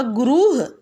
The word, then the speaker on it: गुरुः: जैसे गुरु, इनका जो उच्चारण होगा उसमें जैसे गुरु के आगे अगर विसर्ग लग गया तो उसका उच्चारण होगा गुरुह, आह की ध्वनि इसमें आती है।